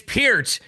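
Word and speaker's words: Peart: they're GNA do the one he says Neil per and he says no it's pronounced p and he and and Paul goes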